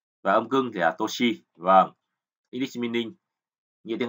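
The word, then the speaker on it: 年: Cái âm ông của chữ niên thì đọc là nên, và âm cưng thì là toshi.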